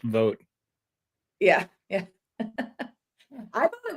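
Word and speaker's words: Vought: Trump's om nominee Russell vote uh the irony that his last name is pronounced vote yeah yeah I thought it was pronounced vot this entire time but it is not it is vote which vot seemed more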